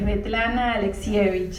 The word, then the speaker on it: Svetlana Alexievich: ¿Puedes pronunciar la autora? Es Svetlana Alexievich, es complicadísimo.